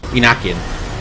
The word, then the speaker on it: Enochian: Enochian. That's how you pronounce it. Because it's named after... Oh, what was his name? I know his last name was Enoch, that's why it's called Enochian.